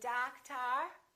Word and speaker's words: doctor: say dog tour or doctor no we don't we stress the first syllable we reduce the second therefore these two o's are also going to be completely different doctor how about this one